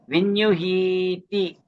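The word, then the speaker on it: viññūhi: But because Vinyuhi is the last syllable. T is actually an additional to say the N lah. T is not part of the word Vinyuhi lah. The word is Vinyuhi.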